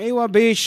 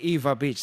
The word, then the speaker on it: Ewa Beach: Courtesy of our friend from Ewa Beach, Hawaii. Eva Beach, I should say. Kasi ti pronunciation na. Spell as E-W-A ngam Eva kung nato di dyan.